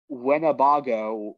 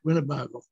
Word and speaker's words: Winnebago: Martina White Bear, a young Winnebago woman. I did not pronounce that right. Yeah, Winnebago.